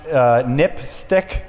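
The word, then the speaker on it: NPSTC: Safety telecommunications commission um which is pronounced nipstick which is kind of a odd acronym name sounds dirty yeah it definitely sounds dirty uh but at any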